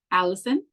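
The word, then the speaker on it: allicin: chewed this compound is known as Allison but it's not spelled like Allison it's a l l i c i n and it's the same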